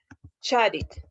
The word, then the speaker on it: chatted: Y chat pues, termina en una T, por lo tanto es con id. chatted, chatted, ¿ok?